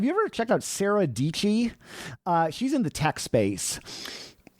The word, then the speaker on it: Dietschy: First of all, her primal branding, like Sarah Dietschy rhymes with peachy.